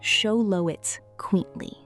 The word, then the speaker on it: Xoloitzcuintli: The name is pronounced show-lo-its-quint-li.